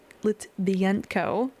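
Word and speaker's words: Litvinenko: So, former KGB agent Alexander Lit Litbenko, that's how you say his name.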